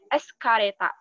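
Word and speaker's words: エスカレーター: Kemudian eskalator, itu eskareta.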